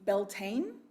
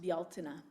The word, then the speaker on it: Beltane: you you'll see it spelled uh our our pronunciation would be beltane but it's a gaelic word and it's pronounced bialtena also called may day it is the cross